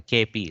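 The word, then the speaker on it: केऽपि: KP, very popular to actually not almost pronounce this avagraha. It's a KP, like that.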